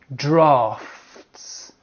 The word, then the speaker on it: draughts: You have drafts.